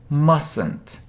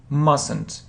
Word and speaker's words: mustn't: mustn't say it yes we don't say t mustn't mustn't okay next should so